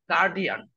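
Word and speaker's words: guardian: গার্জিয়ান না কি শব্দটা গার্ডিয়ান অনেক আমাদের ওস্তাদরা হুজুররা আমরা বলি কি গার্জিয়ান আমাদের মাদ্রাসার সব ওস্তাদরাই বেশিরভাগই বলে এই তোর গার্জিয়ান কে ডাক দে গার্জিয়ান না ভাই শব্দটা কি হবে গার্জিয়ান আর ইংলিশ উচ্চারণ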